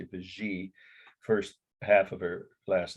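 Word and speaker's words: Vigée: The artist's name was a woman, hyphenated last name, Vigy or Vigy. I've heard it pronounced both ways, but I think in France they would say Vigy.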